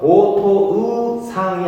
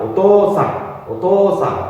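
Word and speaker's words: おとうさん: 그래서 오토의상이 아니라 오토상 토를 길게 늘려서 발음을 해야 된다 이런 의미입니다.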